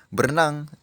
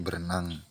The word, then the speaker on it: berenang: hilang contohnya tadi ya berenang diucapkan dengan berenan itu salah itu harus diperbaiki menjadi berenang kemudian yang ketiga yaitu